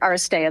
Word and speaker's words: Aristea: Aristia? Aristia? I'm sorry. You can call me or Aristea. That's how it is.